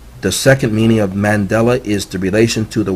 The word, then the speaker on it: Mandela: the second meaning of Mandela is Mandela it sounds like I'm saying the same word in it I did mandela mandela is how you say it man dela Mandela Mandela de la